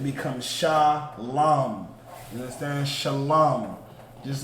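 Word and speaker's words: שלום: So you would just say Sha. Now there's a connector underneath the other two, which go from one to the other. That connector means those two characters are pronounced together. So that one middle character is La, and the one at the end is Ma. So now that we have that connector, it becomes Lam, because it's pronounced together. Lam, Shalom.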